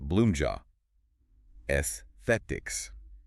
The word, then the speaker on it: Bloomja Aesthetics: We are diving into Bloomja Aesthetics, and that's pronounced Bloomja Esthetics.